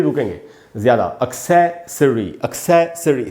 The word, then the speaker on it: accessory: Alternative में ये दोनों का पैटर्न सेम ही है, और एक्सेसरी में सै पर, ए पर स्ट्रेस है, तो उधर ही रुकेंगे ज़्यादा। एक्सेसरी, एक्सेसरी, स के बाद आधा अ है, यानी स पर ज़रा सा रुकना है।